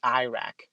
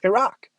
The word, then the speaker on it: Iraq: the wrong things like president bush used to say iraq there's no such thing as iraq it's pronounced iraq i'm pretty sure when he was like we're gonna go to war in iraq people in iraq were